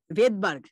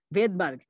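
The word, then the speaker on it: Svedberg: যেখানে আমাদের আপাতত যেটা মনে রাখা, সেটা আমরা মনে রাখতে পারি যে এইটা হচ্ছে ভেদবার্গ। ঠিক আছে, স্পেলিং হচ্ছে এস দিয়ে শুরু, কিন্তু এটার উচ্চারণ হচ্ছে ভেদবার্গ।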